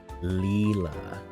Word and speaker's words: Lila: I learned I've been pronouncing, Lila/Leela wrong because I'm an American. Leela. Like Futurama. I have to remember, these are French pronunciations, okay?